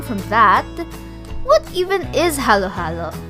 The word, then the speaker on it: halo-halo: spell it as halo halo and you typically pronounce it as halo halo not hallow hallo but based on the commission